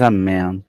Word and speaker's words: Amém: então vamos ver eh não pronuncie Amom mas amé sustento de todos os